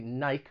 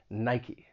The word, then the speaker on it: Nike: before they make shoes but nike has two syllables in the past i've heard people say nike with just one syllable but it has two syllables named after the greek goddess of victory nike the next brand is